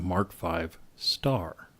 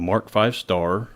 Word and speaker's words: Mark V*: Roman numeral 5, and that asterisk in early British tank designations was usually pronounced as a star when spoken.